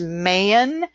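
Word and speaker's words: mane: Main, meaning morning, which is mayan.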